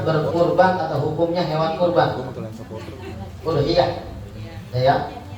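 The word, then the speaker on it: أضحية: Udhiyah. Ya. Bidomil hamzati, dengan doma hamzahnya. Jadi bacanya udhiyah bukan adhiyah.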